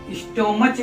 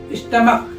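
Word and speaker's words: stomach: क्योंकि साइलेंट है इसको स्टो मच नहीं इसको क्या बहुत से लोग क्या पढ़ते हैं इसको स्टमच स्टमच नहीं स्टमक स्टमक पढ़ेंगे इसको एच जो है वो साइलेंट रहेगा एच जो है वो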